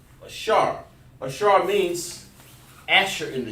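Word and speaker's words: אשר: Over here in English, you want to just say Asher, because that's how they pronounce it in English. But in Hebrew, it's Ashar. Ashara. Over there is Ashara or Ashar.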